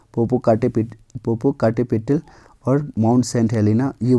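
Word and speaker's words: Popocatépetl: में आपको वल्केन arc Poopó काटे पेटी ठीक है थोड़ा प्रोनाउंस गलत हो रहा है पोपो काटे पेटल देखने को आपको मिलेगा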